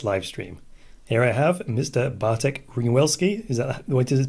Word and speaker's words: Bartek Ringwelski: Bartek Ringwelski. Is that the way to pronounce it?